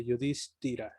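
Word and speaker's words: युधिष्ठिर: Entonces está la S, está la T, está la H, Yudhishthira. Entonces la I ahí se pronuncia un poco más larga, Yudhishthira.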